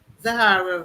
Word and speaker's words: Zahara: I can tell you when the characters showed up, when I knew that Zahara, because I knew from the first line, Zahara rhymes with Sahara, the little ditty that her mom used to say to her.